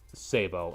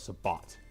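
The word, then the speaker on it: sabot: So it's one of those things that there is a reason why they go out of the way and say Sabo instead of Sabat.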